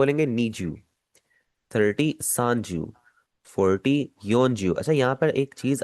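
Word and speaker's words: 四十: जैसे 40, 40 को आप कभी भी शी जू नहीं कह सकते। 40 को आपने हमेशा योन जू ही कहना है।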